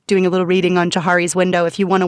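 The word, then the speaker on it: Johari: Uh, and there's a really cool tool for self-awareness called Jiari's window, which you can read about online, and then it's a little exercise that you do.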